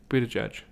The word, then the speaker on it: Buttigieg: How do you pronounce his last name? Buttigieg.